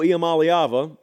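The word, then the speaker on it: Iamaleava: Well I got several of them here Nico IAM malava because yes we do believe in pronouncing college football players names right on this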